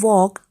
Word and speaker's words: walk: L is silent, and in walk L is silent.